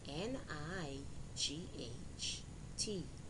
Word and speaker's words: night: eight now let's review these words with silent gh knight n i g h t night do d o u g h slay s l e i g h eight e i g h t eight now boys and girls